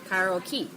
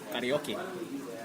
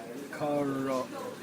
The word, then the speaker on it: karaoke: People say karaoke. It's actually, what is it? Art? Try. Karaoke. Karaoke. Karaoke. Karaoke. Karaoke. Karaoke. Yes, karaoke. Karaoke.